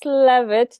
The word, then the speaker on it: Leavitt: Now let's get communicating with Phyllis Leavitt. Did I say that right? You Leavitt. did. You said it right.